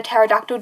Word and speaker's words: pterodactyl: And there's that stupid dad joke that's like can like you can't hear a pterodactyl P because the P is silent.